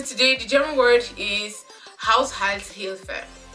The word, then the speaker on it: Haushaltshilfe: If you say it like if you directly translate it in English, it sounds like household help.